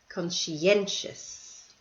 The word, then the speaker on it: conscientious: thorough sensible capable spontaneous conscientious so notice in the last two words these are multi-syllable words and the stress is on the second last syllable okay let's turn our